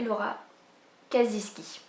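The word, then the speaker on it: Laura Kasischke: petit peu relou qui aime bien que la prononciation soit bien faite. Et du coup j'ai appris que ça se prononçait Laura Kaziski.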